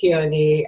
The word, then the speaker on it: Ke'oni: it's such a pleasure to have you here keaney and your company is it that's how you pronounce it yes it's called pohala is a